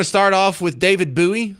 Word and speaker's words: Bowie: We're going to start off with David Buoie. I know the English people like to pronounce it Bowie, but they're wrong.